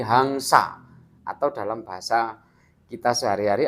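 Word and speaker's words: haṃsa: Kemudian ada titik atasnya di huruf M itu bacanya ang. Jadi hangsa.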